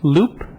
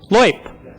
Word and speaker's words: Loip: And Loop, am I pronouncing that correctly? No, Loop. Loip. It's not French.